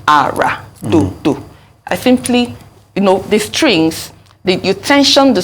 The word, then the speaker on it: Ara: So, with the accent on the name, Ara, for instance, is do, do.